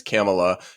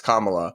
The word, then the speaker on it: Kamala: totally fine that she initially mispronounced kamla's name as camela just briefly and then corrected herself or then Rec corrected herself and the others were like oh yeah it's Kamala and that I don't